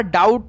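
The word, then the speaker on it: doubt: का जो होता है डाउट में इसका उच्चारण ही नहीं होता डाउट में तो उसी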